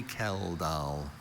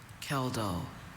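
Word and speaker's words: Kjeldahl: Are there any alternative pronunciations? I have only Kell. Kell.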